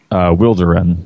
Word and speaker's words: Wilderun: Well, we usually call it Wilderun. That's how we pronounce it.